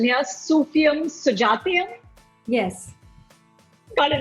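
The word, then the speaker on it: Sufiyum Sujathayum: uh you your film and please correct my pronunciation here sufium sujatyam yes got it right okay that that was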